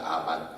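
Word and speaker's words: אמן: 진리와 믿음과 아멘이란 단어가 원래 아멘이지만 원래 그 발음은 전 그 루트 뭐냐면 아만입니다. 아만 그 동사에서 오는 겁니다.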